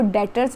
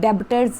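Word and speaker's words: debtors: ये B silent है, इसको डेटर्स बोलते हैं, डेबिटर्स नहीं बोलते, ठीक है जी।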